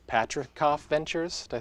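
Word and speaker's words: Patricof: let's see if I can pronounce this correctly Patrick cough Ventures did I say it right Patrick is right so Alan patrickoff who is one of the one of the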